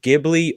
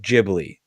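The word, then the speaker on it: Ghibli: on the podcast um it can actually be pronounced gibli or jibi either way is actually correct because it's a weird translation exactly it's okay yeah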